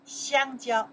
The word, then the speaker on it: 香蕉: follow me pronounce, maybe you can read, right? Okay. Yes, your turn. 香蕉.